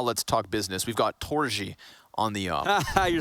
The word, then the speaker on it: Torzsi: It's pronounced Torzsi. Torzsi, yeah. It's Torzsi something. Yeah, there's a little bit of a J in there.